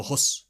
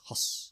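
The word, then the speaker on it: Höss: No, Huss. Oh, no? Yes, because it's Hoss.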